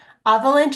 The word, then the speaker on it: avalanche: Avalanche is a little bit difficult because you can't hear this E at the end.